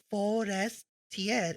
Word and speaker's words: Forestiere: Now who is Bald Sare Forestier pronounced as Bald Sare which is Italian origin and then his last name is forest tier which is French.